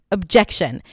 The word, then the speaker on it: objection: Objection. So the reason why I want to talk about the word objection, because it has a fun little schwa at the beginning, even though it's spelled with an O.